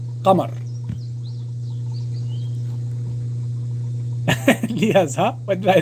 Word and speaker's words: قمر: Moon is in Arabic is قمر.